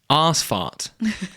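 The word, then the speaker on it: Ausfahrt: Asfart. It's not spelled like that, but that's how it's pronounced.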